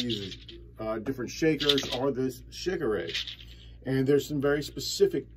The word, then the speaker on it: Shekere: This is the Shekere. Some people pronounce it Shekere.